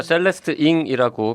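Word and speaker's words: Celeste Ng: 저희가 셀레스트 잉이라고 계속 발음하고 있는데요. 이 책의 표지에는 셀레스트 응이라고 표기가 되어 있습니다. 네, 그런데 본인이 셀레스트 잉이라고 읽어달라고 그랬다면서요. 네, 그래서 저희도 그냥 잉이라고 네. 읽는 것으로 하겠습니다. 네.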